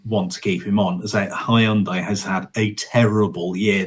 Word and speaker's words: Hyundai: He's leave or Hyundai rhymes with Monday.